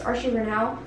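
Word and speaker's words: Archie Renaux: I think it's Archie Renau. I don't think you pronounce the X.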